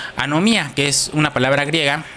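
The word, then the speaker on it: ἀνομία: Y la palabra injusticia en el original dice o se pronuncia anomía, que es una palabra griega que viene en la concordancia Strong número 458, G458, que es iniquidad.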